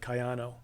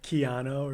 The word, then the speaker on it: Kayano: He would kill the pronunciation of Kayano. Oh. So I would always harass him. What do we say? Keanu or something. Okay, yeah. Like, it's not Keanu Reeves, man.